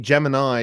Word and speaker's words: Gemini: is in my collection so what was project geminy geminy and it was by the way pronounced gemin Gemini is the is the astrological sign gemin is